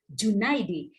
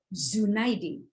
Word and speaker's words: Junaidi: jabatannya pun juga hati-hati kita menyebut Ahmad Junaidi J bukan Z junaidin padahal nama tamu kita